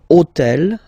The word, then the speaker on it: hôtel: took on purpose this hôtel, okay, because it starts with H, but remember that in French we don't pronounce H, okay, so basically the first sound of the word is the vowel O, okay, so for the